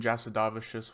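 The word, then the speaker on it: Jasudavicius: early prelim up the card we've got Jasmine jadavious which I do believe is the correct pronunciation I heard her say it on Ariel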